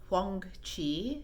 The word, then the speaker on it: Huang Qi: It is Huang Qi in Chinese.